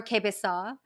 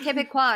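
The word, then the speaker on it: Québécois: in my AIDS video I pronounced once or something like or quebe saw uh and on purpose no on accident and I never heard the end of it like every Canadian everybody in Canada at this point has commented on that video like it's pronounced quebecois and I'm like yeah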